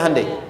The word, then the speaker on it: Hyundai: Sehingga ketika di sana bikin Honda, sini Hande Hyundai kan dibacanya Handeai ya kan.